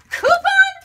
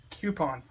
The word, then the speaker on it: coupon: Coupon rhymes with poopon. Got it? Coupon.